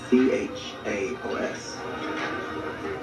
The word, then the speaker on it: chaos: spell it Professor Carter ch AOS how is this pronounced chaos you will all know